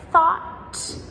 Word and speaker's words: thought: We also have words like thought and taught and caught. They all have the silent GH as well.